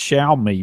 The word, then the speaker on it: Xiaomi: don't know there it's it's pronounced Shia me but uh I think that's